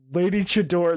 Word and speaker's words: Lady Chador: Lady Chador. That's not how I read it, but you are correct in how it should be pronounced. Yeah, like a luchador.